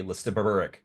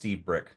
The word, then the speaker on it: Lstiburek: you say your name I think it's pronounced Stebrick but um what's the story with the name can you educate us less educated all right well so it's pronounced stebrick and it's of Czech heritage from the Czech Republic but I'm not from